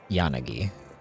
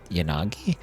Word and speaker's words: Yanagi: Isn't the way to do it in Japanese is the A should be pronounced the same both times and they should both have like the same level of time spent on each syllable. Wouldn't it be yanagi so that ya na